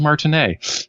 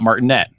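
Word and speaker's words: Martinet: it also made me rise his name is pronounced Charles Martin a not Martin net as I have heard in many places but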